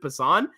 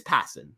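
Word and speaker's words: Passan: saying piss off I I didn't know it was passin I guess like I I guess I just have always pronounced it pan but it is passin that is I guess how it is so I'm just going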